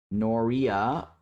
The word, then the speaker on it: Noria: Let me figure out what the actual pronunciation of this is so I don't screw this up. Noria pronunciation. Noria. Noria. Noria.